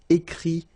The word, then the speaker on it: écrit: Okay, remember, you put this T, you don't pronounce it. Écrit, dit.